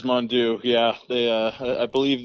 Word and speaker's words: Mondeaux: official clarification on it is henry mandu correct it is mondoo yeah they uh i